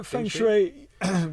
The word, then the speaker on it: feng shui: Yeah, feng shui. we Never know how to pronounce it.